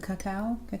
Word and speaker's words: cacao: And the chocolatey, the cacao is how you say it.